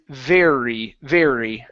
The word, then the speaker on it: very: last one here is going to be very give me a good r instead of Betty Betty it's very very uh very great great